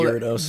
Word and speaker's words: Gyarados: Guys, I didn't know how to pronounce his name because growing up, I always called him Gyarados. And now I know Gyarados.